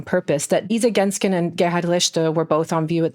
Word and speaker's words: Gerhard Richter: So Gerhard Richter, I'm pronouncing this deliberately in German and not in my German-American accent. Gerhard Richter Kunststiftung is basically a